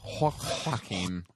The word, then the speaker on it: Joaquin: It's Joaquin.